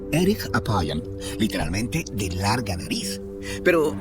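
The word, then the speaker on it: אֶרֶךְ אַפַּיִם: En hebreo, la frase lento para la ira se pronuncia erich apayam, literalmente de larga nariz.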